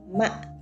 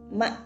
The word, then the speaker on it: mạ: You will see the word mã, okay, mã. With these toes, you should keep your voice as low as possible and short.